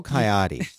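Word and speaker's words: Caiati: have to spell your last name it's coyote jo e CA I ati dot info any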